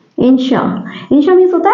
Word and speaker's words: inertia: हैं लॉ ऑफ इनर्टिया generally इसको हम लोग इनर्स प्रोनाउंस करते हैं लेकिन इसका सही प्रोनंसिएशन होता है इन श इस तरह से इंशा इंशा मींस होता है